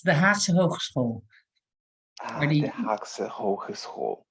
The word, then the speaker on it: Haagse Hogeschool: I cannot pronounce the Dutch word. May you please say it for me? Yeah, it's the Haagse Hogeschool, or The the Haagse Hogeschool.